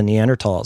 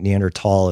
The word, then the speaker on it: Neanderthal: People kind of pronounce it both ways. I think Neanderthal is what I mostly hear.